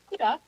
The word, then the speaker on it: Akutaq: And actually, you know, for kudak, that's how you pronounce it. You know, I I wanted to say kudak too, but it's like a duck, like a bird.